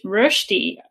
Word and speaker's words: Rösti: that's very similar to hash brown, and it's Rösti, I think it's pronounced. That's exactly right. Yeah, great pronunciation. Yeah, Rösti.